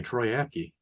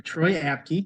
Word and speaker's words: Troy Apke: Martin so don't forget the fast white guy troyaki oh sorry Troy apke yup Tariq Castro Fields uh there's not many